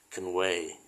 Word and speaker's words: Conway: นะ คว จริง ๆ Con เนี่ย ถ้า ออก เสียง แบบ native speaker มัน จะ ไม่ อา ว่า ค แต่ เรา นี่ เขียน ให้ ตรง ตัว เฉย ๆ มัน จะ ออก เสียง ว่า ค conway Con อ่า คำ แบบ นี้ จะ ส เสียง หลัง นะ ฮะ เสียง จะ หนัก ที่ คำ ว่า way ob โอ อย่า เงี้ย